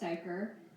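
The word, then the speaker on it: duiker: Dyer a small Antelope whose name is pronounced dier uses a pair of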